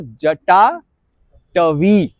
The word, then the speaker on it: जटाटवी: तो जटा, अब ये है कि टवी, अब ये व है, व, ये ब नहीं है, व है ना।